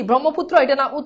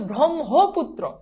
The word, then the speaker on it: ব্রহ্মপুত্র: ধনিষধ এইবার আসো এইটা এটা অনেকেই পারে না আগে এটার উচ্চারণ বুঝতে হবে এটার উচ্চারণ কি ব্রহ্মপুত্র এটার উচ্চারণ হচ্ছে ব্রহ্মপুত্র আবার বলছি এটার উচ্চারণ হচ্ছে